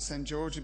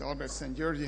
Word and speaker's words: Albert Szent-Györgyi: You can pronounce it St. Georgi, but his name is Albert Szent-Györgyi. Hungarian is a funny language.